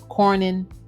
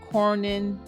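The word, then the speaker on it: Cornyn: is Senator K and I'm probably saying his name wrong c o r n y n Corin republican from the state of Texas so in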